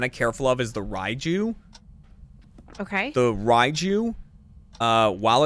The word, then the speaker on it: Raiju: Slower, and then Raiju is electric type, but I'm just gonna remember it by being like Raichu.